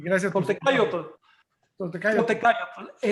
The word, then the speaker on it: Toltecayotl: Toltecayotl. Recuerden que las palabras náhuatl de 2 sílabas en adelante, todas son llanas, es decir, se pronuncian en la penúltima sílaba, se pronuncia el acento.